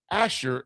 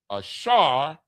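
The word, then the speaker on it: אשר: Ashar. Asher in the English. Ashar in the Hebrew.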